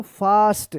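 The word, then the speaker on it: fast: जब भी ए के बाद एस रहे या डबल एस रहे तो ए का आ उच्चारण होगा। क्या पढ़ेंगे इसको? फास्ट।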